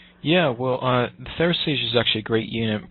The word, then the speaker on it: Therasage: I had looked at the, help me with the pronunciation. It's Thera. Therasage.